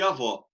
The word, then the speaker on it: avó: Avô e avó. Pra gente é muito claro a engraçado. diferença do som. O avô é o O fechado e a avó é o O aberto.